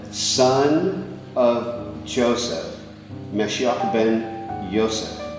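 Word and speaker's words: יוסף: It's Yseph. So, what you have here, this this is the Yseph. Yes. Exactly as any Hebrew speaking person would pronounce it.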